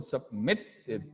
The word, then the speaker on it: submitted: Remember, the stress falls on the second syllable, submitted. So it takes double T, right?